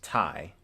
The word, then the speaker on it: Tai: course is my name my name is pronounced as tai like um bow tie or um i guess you would say or think of the first word the phrase like tie my shoe or something but anyway